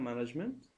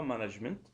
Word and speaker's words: management: Bien sûr, sans prononcer le T. On disait seulement management et non pas management pour faire une différenciation entre la prononciation anglaise et la prononciation française.